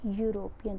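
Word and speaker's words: European: का यूज़ होता है, जैसे ही इज़ अ यूरोपियन। तो या ई जो है इसमें साइलेंट है और यू जो है यहाँ पर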